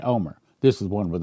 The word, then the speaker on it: Olmert: The t is silent and the l is silent. So, it's pronounced and I've heard it pronounced that way by Israelis or Jews. Former Israeli Prime Minister Omar, we need not just